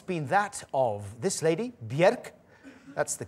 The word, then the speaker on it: Björk: One of the most fruitful creative pairings in the music video world has been that of this lady, Björk. That's the correct way of pronouncing her name, by the way.